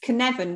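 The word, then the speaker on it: Cynefin: you referenced Snowden Dave Snowden Dave Snowden yes can Evan which is spelled c-y-n-e-f for Freddy i n it's a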